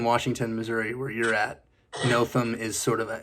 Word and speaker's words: Nothum: Yeah, the most common is the R. Yeah. Putting the R in it. They put the R in there. Northum.